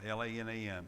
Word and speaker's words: Lanham: We've added at the bottom of the cancer list, add Tina Lanham. Lanham, I don't know, Lanam is how she said spell it.